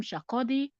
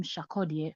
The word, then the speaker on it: Sarkodie: will not mention okay a lot of people call him shakodi but if you hear the ghanaians say his name they call him shakodia so we're going to call him that way I guess that's the right pronunciation of his name you know and this